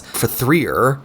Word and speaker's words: F.E.A.R.: great effect although L we always made a point to pronounce the game as fer because of the stylized spelling if the consolizer 2